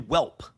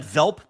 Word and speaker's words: Welp: Christian Welp. You pronounce that. You love Christian Welp. pronounced that Velp possibly the German the German center Christian Welp.